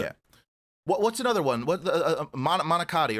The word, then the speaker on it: manicotti: It's pronounced manicotti, but the inflection is different if you're native Italian or if you're native American. If you're from America, like our English, because we tend to, like, especially in the Northeast, we emphasize our vowels. So manicotti, but that's not how they pronounce it.